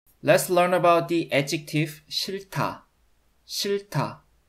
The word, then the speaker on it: 싫다: Let's learn about the adjective 싫다. 싫다. The second final h consonant of the consonant cluster is silent, but it affects the initial d consonant in the next block. So it's pronounced 싫다, not 싫다.